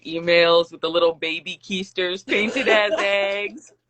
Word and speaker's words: Keister: First of all, everybody mispronounces it, so like you never, Like, that's kind of good because you kind of get to like fly under for a little bit because nobody usually pronounces it right. They're like coester, I thought it coester, was or coaster like at first. I'm like, oh hey. coaster, coester, coester.